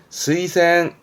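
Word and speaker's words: 推薦: 그니까이 추자가 추진하는 추도 있고 추천하는 추도 있습니다 발음은 스센 스이센 요거 했던 거이자 자 이동의 자입니다 그렇죠 추위가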